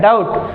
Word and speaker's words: doubt: तो इसमें क्या है, बी क्या है, ये देखिए बी, यहाँ पर बी क्या है, साइलेंट है। तो यहाँ से आपका आंसर आ गया। देखेंगे कि जिस प्रकार से एच ऑनेस्ट में साइलेंट होता है, उसी प्रकार से बी डाउट में क्या होता है, साइलेंट होता है।